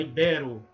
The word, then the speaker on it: ibero: Não é íbero, é ibero. Poliglota, pudico.